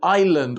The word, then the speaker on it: island: The S in island or isle.